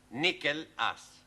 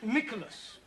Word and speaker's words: Nicholas: upon a times there was a man called nickel ass it's not quite right no no once upon a time there was a woman called nickel ass it's pronounced Nicholas all right once upon a times there was